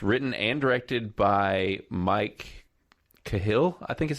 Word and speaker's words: Cahill: uh it's it's written and directed by mike cahill i think is how you say it is